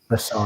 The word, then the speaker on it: Rousseau: Is that how you pronounce it from Miami? Rousseau. Gregory Rousseau. Rousseau, that's it.